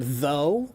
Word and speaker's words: though: But, um, but then there are some words like the word though, t h o u g h, with all those silent letters.